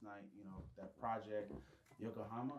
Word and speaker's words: Yokohama: y'all did at the end of the year last night, you know, that project, Yokohama. Am I saying it right? Yep. You got it. Yokohama.